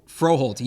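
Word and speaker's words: Froholdt: lineman, who I'm not going to try to pronounce his name, but you can say it for me. Yelda. Thank you. Froholt. Froholt.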